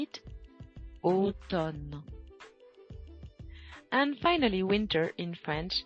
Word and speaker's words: automne: Say it, automne.